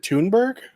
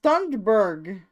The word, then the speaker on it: Thunberg: thought it was thumber is it tunberg no it's thunberg what like a real